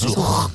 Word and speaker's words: Yasuj: Yasuj, una J. Gracias. J aspirada, que la llamo La yo.